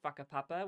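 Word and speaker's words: Whakapapa: on the side that's called faka which is spelled w a k a p a p a um that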